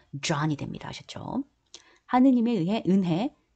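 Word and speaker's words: John: 자 그런데이 j가 그렇게 발음 난다는 거 요한이라고 하지만 여기 영어로 발음될 땐 J 발음을 넣어서 Joh이 됩니다.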